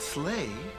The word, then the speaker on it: sleigh: And the word sleigh rhymes with play.